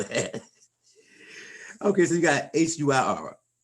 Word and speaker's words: huir: Okay, so you got HUIR. How do you pronounce that, Miss Constance?